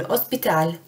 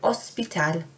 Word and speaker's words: hospital: Un hospital, remember not to pronounce the H at the start in Spanish. Un hospital, the hospital.